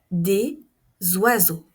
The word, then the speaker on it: oiseaux: voudrais manger des gâteaux regardez ici la liaison vous vous avez le son ne ne noi un oiseau un oiseau ois zois des oiseaux un oiseau des oiseaux et enfin l'adjectif beau